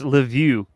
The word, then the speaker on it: Lviv: It's Lviv. Lviv. Okay, there we go. Ukraine. And make sure it's not the Russian; it's the Ukrainian way to pronounce it, right?